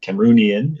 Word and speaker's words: Cameroonian: but he was a former Cameroonian Cameroon Cameroonian is how you say it from Cameroon.